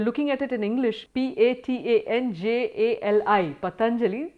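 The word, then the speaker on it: Patañjali: So just one small note on that, there are many people who pronounce his name as Patanjali, Patanjali. There are a whole lot of permutations and combinations because it's hard to know the exact length of the vowel in his name.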